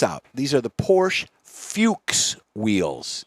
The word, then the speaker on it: Fuchs: one check this out these are the Porsche Fuchs Wheels it's spelled different but it's pronounced Fuchs when poor how do you spell it f-u-c-h-s